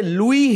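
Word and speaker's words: Louis: यह जो है ना यह लुई है य लुई Braille French लुई Braille वास the person who invented Braille system for the visually impaired people तो इसका मैं इवन बीबीसी उर्दू में देख रहा था तो उने लुईस लिखा हुआ था आई वास सरप्राइज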